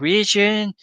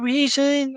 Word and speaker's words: Reason: He couldn't even pronounce it properly. He said like region. I like what what are you talking Yeah. Reason. I'm like reason.